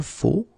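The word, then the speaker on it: faux: So one more time, it goes like je faut. Okay, remember. X, but then you don't pronounce it.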